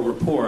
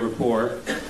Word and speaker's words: Report: a frequent guest on the co be report but uh or Rapport I guess is the proper pronunciation uh we're delighted that